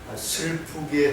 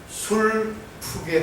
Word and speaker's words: 슬프게: 발음을 명확하게 해야 됩니다. 슬프게 하는 세상입니다. 술프게 하는 그 개콘처럼 그런 세상이 아닙니다.